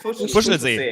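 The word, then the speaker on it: Fuschlsee: How do you pronounce it? Fushelsee.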